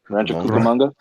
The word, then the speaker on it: Rancho Cucamonga: What do you say? Rancho Cucamonga. Yeah, you said it right.